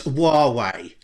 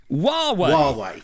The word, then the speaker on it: Huawei: I think we should care about how we pronounce it. Oh, I don't know. I've asked several people today. It's Huawei. Huawei.